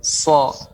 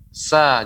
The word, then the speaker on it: ص: Ya, so. Kalau nggak kita naikkan bagian depan, nggak bisa. Sa jadinya. Sa jadinya. Maka itu naikkan. So. Lidah kita mirip terasa tertekuk, melengkung ke atas.